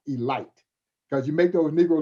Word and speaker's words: Elite: baltimore elite giants now spell elite but it's pronounced elite because you make those negro leaguers mad if you call them the elite giants they were the elite giants and campy